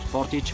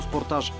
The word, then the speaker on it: Sportage: подчертава нагласата на компанията кои страни го четат като спортич в други като спортаж корейците за да не обидят никого са възприели официално и двете произношения както и